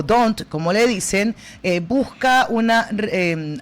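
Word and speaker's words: D'Hondt: Hunt. ¿Sabes qué? Es que se pronuncia DONT.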